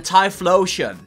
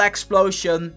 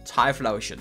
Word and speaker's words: Typhlosion: And then Typhlosion, not Explosion, Typhlosion.